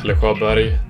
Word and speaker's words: Pelle Sjöberg: If you guys don't know, my name is Pelle Sjöberg, that's how it's pronounced in Swedish, and I run the